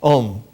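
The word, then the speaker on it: ॐ: to tune the voice om its pronunciation in slow tone is Al begins with a goes to U ends with M and an exclamation mark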